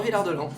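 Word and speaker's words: Villard-de-Lans: Voilà ville de c'est une petite station familiale finalement prononce pas le s finalement. Non non non villard de l'an très bien très bien. C'est comme ça qu'on le dit.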